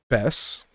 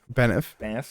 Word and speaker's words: Banff: So then so you were over at Bess. Is that how you say it? Sorry? Banff.